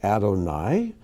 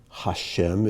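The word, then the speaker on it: אֲדֹנָי: god's holy name so when you see that i say adonai you can say hashem if you wish but we understand that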